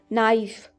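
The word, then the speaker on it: knife: चूल्हा stove stove चाकू नाइफ नाइफ यहां के साइलेंट होता है झरनी स्कीमर स्कीमर पतीला वेसल या पॉट वेसल और पॉट टेबलस्पून बड़ा बड़ा चम्मच।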